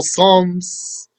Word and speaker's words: Psalms: Isa of Davidu that people call Psalms. You know that's spelled with the silent P. P S A L M S.